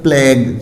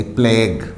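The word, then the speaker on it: plague: अब जैसे for example है प्लेग, GUE है तो यू की साउंड है यहाँ साइलेंट हो जाएगी, प्लेग।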